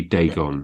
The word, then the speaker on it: Dagon: Here's another one. Dagon. It is officially Dagon. That sounds better than Dagon.